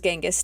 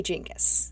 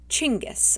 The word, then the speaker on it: Genghis: sounds real silly but it is actually jingus at least that's the version that's closest to the actual pronunciation of his name in Mongolian which was chingus like with a CH like your chin on your face and then guess chingus so yeah I'm officially